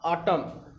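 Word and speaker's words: autumn: पांचवें में कहता है यदि किसी शब्द में यम के बाद यन आया हो, यम के बाद यन आया हो तो वहाँ यन क्या होता है, साइलेंट होता है, जैसे कॉलम और आटम, ठीक है, इस तरह।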